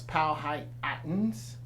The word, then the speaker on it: Powhatan: for the people that we call Powhatan Native Americans or properly pronounce Pao high patents and this painting is